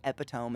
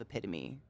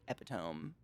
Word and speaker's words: epitome: pronounced it all on my own i still pronounce some words completely wrong to this day sometimes i say epitome instead of epitome because i don't care who you are read